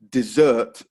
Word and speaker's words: dessert: um sweet dessert so the only difference between the two words is the stress desert first syllable dessert second syllable so stress is really